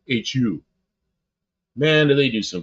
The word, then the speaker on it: Hu: You know about the Who and it's spelled Hu. Not like the Who in America, but The Who. Hu.